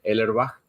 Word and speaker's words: Ellerbach: mi apellido, se dice Ellerbach. Todo bien, es difícil de pronunciarlo, es un apellido alemán o de origen alemán.